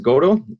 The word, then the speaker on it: Godo: My name is Godo. If you have read Samuel Beckett's famous play, you may be familiar with the pronunciation.